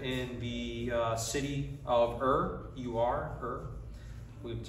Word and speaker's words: Ur: Abram was a man who lived in the city of Ur, U-R, Ur. That's how you pronounce it.